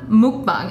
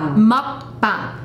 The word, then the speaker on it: mukbang: I've had worse um so it's not Mook bung its mapa muck mop bah I got it muck